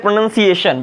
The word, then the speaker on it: pronunciation: यू एन सी ए तो इसे कहते हैं प्रोनाउंस और इसे कहते हैं प्रनंसीएशन बाय दी वे टी